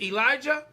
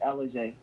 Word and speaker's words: Ellujai: Is it Ellujai? No, it's Ellujai.